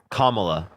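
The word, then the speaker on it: Kamala: look at Kamal Harris commala but can you define can you define communism wait wait how do you say her name kamla oh okay camel toe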